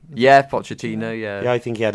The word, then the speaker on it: Pochettino: Yeah, Pochettino.